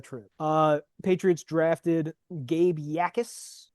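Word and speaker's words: Jacas: Uh, Patriots drafted Gabe Yakis. Looks like jackass. It's pronounced Yakis.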